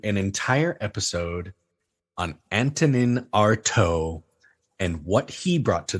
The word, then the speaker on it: Artaud: And Artaud is spelled A-R-T-A-U-D.